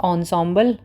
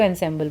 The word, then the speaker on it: ensemble: ensemble, this is the pronunciation ensemble, नहीं अच्छी लग रही तो ensemble बोल लो।